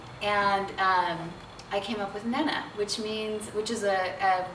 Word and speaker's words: Nena: tell you the background the name is Menna and we'll put the phonetic spelling underneath but it's Nana not Nina and this funny thing